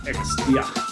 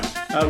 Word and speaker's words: Exdia: And joining me on the line today, I've got Ed Johnson from Exdia. Is that how we pronounce it, Ed? Yeah, you got it right. Thanks, David. Yeah. Exdia.